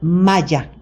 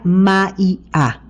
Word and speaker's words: Maya: La segunda idea es un mundo ilusorio llamado Maya, que algunas gentes se pronuncian Maya, como los mayas de aquí de Mérida, ¿no? Los mayas de Centroamérica. No se pronuncia Maya, se pronuncia Maia.